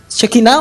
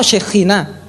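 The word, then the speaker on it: שכינה: La raíz es Shin, Kaf y Nun, pero esa Kaf que va en la mitad, en el hebreo moderno se puede pronunciar como Kaf o como Jaf, por eso, Shekinah o Shekhinah.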